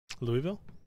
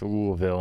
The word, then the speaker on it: Louisville: Louisville? But they would say it's Louisville, and they say it's not an accent.